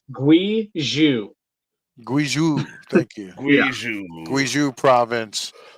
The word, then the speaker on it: Guizhou: It's pronounced 2051. It's Guizhou. Guizhou, thank you.